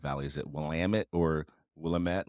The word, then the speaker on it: Willamette: do you pronounce uh Willamette Valley is it Willamette or Willamette like how do you pronounce that yeah well damn it yep that's the way